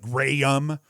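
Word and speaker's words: Jrayum: assist luke graham and it's spelt weird j-r-a-y-u-m so it's like graham two goals uh sam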